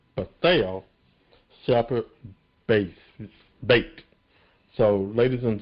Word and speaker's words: Bethel: We had a great guest on the show, and she did correct all of us how to pronounce her first name. It's not Bethel, but it's Bethel Sheppard Bates.